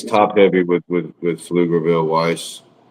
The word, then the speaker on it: Pflugerville: Yeah, I think it's top-heavy with with with Pflugerville Weiss.